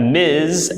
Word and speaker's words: Ms: at times okay we've got Miss we've got Miz and we've got Mrs so this one is pronounced just like it looks Miss and this